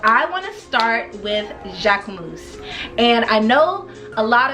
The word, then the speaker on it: Jacquemus: And a lot of people say that the K is not pronounced, but he pronounces the K, and so I'm gonna pronounce the K. So for me, it's Jacquemus.